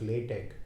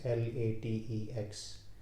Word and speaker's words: LaTeX: But if you are writing a very mathematical paper, then there is a software known as LaTeX, that is LaTeX, pronounced LaTeX, not latex.